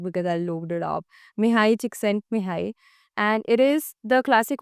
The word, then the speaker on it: Mihaly Csikszentmihalyi: It's Flow by Mihai Csikszentmihalyi. Yes, I'm pronouncing that correct because I looked it up. Mihai Csikszentmihalyi.